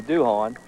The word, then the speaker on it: Duhon: pronounce it with his Duhon and if he was from Southwest Louisiana you know he'd be doing but it is pronounced doing I don't know if